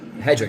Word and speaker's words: Hedrick: Hedrickk is how you say it.